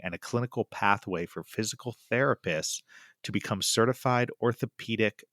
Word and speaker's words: FYZICAL: Well, you are the Director of Education for a franchise system called Physical, but that's spelled with an F, correct?